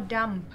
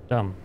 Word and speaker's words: dumb: I can do something is it dumb or dump dumb um the bee is silent yeah okay now we go